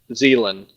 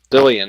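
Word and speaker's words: Zilean: Zillion, is that how you say it? I thought you said Zealand, like New Zealand.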